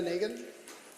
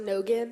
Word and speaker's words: Negan: next is uh Eliana Negan my last name was actually pronounced nogan nogan thank you no problem